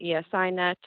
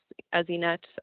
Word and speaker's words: ESInet: services ip based network att will refer to it as esi net others essienet however you would prefer to pronounce that acronym but basically by upgrading